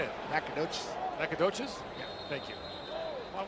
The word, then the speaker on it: Nacogdoches: Nacho Gochez, Texas. Is that how you say it? How do you say it? Nacogdoches.